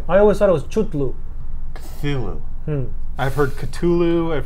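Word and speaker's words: Cthulhu: Yeah, it's KhaThuhLooh. How do you say it? KhaThuhLooh. I always thought it was Chutlu.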